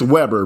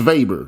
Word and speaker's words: Weber: look up max weber it's spelled weber like webr but it's german so that's how they say that's how they say the name okay max weber max weber that's what what he's